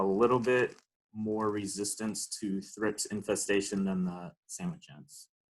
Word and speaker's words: thrips: couple quick notes you'll hear me say a thrips thrips is both plural and singular so um it